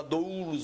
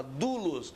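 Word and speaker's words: δοῦλος: Você não fala doulos, você fala dulos. Escreve doulos, servo, é dulos a pronúncia.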